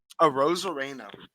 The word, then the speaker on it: Arozarena: Arozarena. Yeah, just think of it like Dude's been on fire. Think about it as like a rose, a rain, a rain, a Rosarena. Randy Arozarena as your World Series MVP.